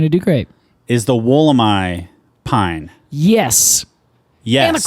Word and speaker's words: Wollemi: do great is the woolamai pine yes yes and the Crowd Goes Wild it's not the wollami or wallamy nope it's the wool am I that is the uh the Australian pronunciation which I think is